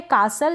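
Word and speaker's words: castle: फिर यह है कासल या कैसल करके इसको प्रोनाउंस कर सकते हैं।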